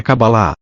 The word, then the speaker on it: Kabbalah: palavra cabala em e cuja pronúncia mais próxima do original é kabbalah significa a receber o